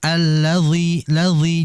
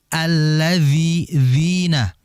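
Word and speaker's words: الَّذِينَ: kemudian berikutnyaathadina an ladina saya fokus di alladzi dalalnya itu tipis ya jadi jangan sampaiathadina ladina jangan itu seakan-akan tebal ya itu seperti huruf d nantinya jadi di ee pis lagizi alladina jangan allzizi jangan ya alladziina kemudian berikutnya adalah Gin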